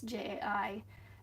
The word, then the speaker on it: Jai: So JAI is basically just the way you say the letter J spelled out.